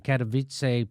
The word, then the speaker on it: Katowice: climate summit is happening in Katowice Poland and that is how you pronounce it and so it's it's